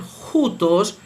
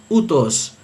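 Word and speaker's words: οὗτος: Por lo tanto, esta palabra que es el pronombre ya mencionado, este se leería juntos juntos según la pronunciación erasmiana porque está aplicando el valor fonético del espíritu rudo de una J.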